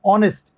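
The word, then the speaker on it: honest: तो हॉट, गॉड, job, coffee, coffee, copy, college, doctor, shop, oxygen, was, boss, लॉस्ट, ऑनेस्ट, H silent है, O का बना O sound, ऑनेस्ट, YACHT yacht, YACHT yacht होता है।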